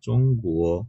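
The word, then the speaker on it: 中国: যেমন আমরা যদি বলি চায়নার কথা, যে চং গুয়ো মানে চায়না, তখন এই জি কিন্তু আছে ওখানে। হুম চং কুয়ো জির উচ্চারণ গয়ের মতো শোনা যাচ্ছে।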